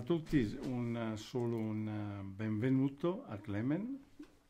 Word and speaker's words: Klemen: Subito una domanda, la pronuncia corretta del nome, perché ci sono diverse correnti di pensiero. Clement Sebul.